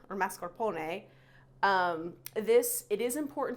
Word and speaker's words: mascarpone: sugar high quality marscapone also it's you don't pronounce it marscapone that's how me and lots of people from the Northeast pronounce it uh it's mascarpone or mascarpone um this it is important to use a